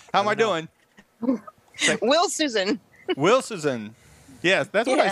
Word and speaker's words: Wilshusen: And Wilshusen. If I get it. How am I doing? Wilshusen. Wilshusen.